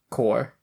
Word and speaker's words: Corps: said since I watch it's core like Marine Corp oh I don't think it's corpses and dead body it's spelled c RPS that's how Marine Corp is spelled really yep oh old